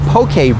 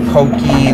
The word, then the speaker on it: poke: It's not pokey like Pokemon. Yeah, you got it right. Poke? Yes, it's a poke. Poke right way to, is the proper right way. Way to pronounce it is a poke bowl. Poke bowl. And the poke is a Hawaiian word.